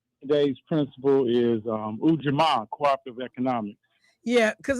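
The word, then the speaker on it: Ujamaa: Today's principal is um Ujama cooperative economics. Yeah, because a lot of black folks say Eugima because of the way we used to pronounce the letter uh U.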